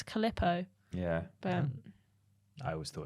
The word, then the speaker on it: Calippo: to say calipo's and my friend was like it's not caliper and then she started making fun of me and I was like what do you mean how do you say it and apparently it's calippo yeah but I always